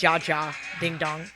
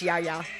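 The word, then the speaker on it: Jaja Ding Dong: natural yeah yeah it's not fyi is not ja ja ding dong it's yaya the jay is silent he said i'm making it clean because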